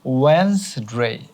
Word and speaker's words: Wednesday: এরপরে দেখো এই শব্দটা হবে ওয়েন্সডে।